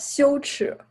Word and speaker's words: 羞耻: Luego, Chang, how do you pronounce that in Chinese? It's called 羞耻. 羞耻.